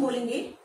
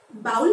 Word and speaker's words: bowl: बाउल में। जी नहीं, इसे हम बोलेंगे बोल। क्या बोलेंगे? वो वाली बॉल नहीं, खेलने वाली, इसे बोलेंगे बोल, बोल।